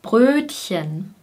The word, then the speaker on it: Brötchen: Das Brötchen, Brötchen. Das Brr, Brr allein ist natürlich schon eine schwierige Kombination, denn bei B bilden wir hier vorne den Laut und das R ist hinten.